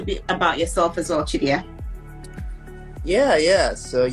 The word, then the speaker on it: Chidiya: Chidiya, am I pronouncing your name right? First of all, let's start with that. It's Chidiya. Chidiya.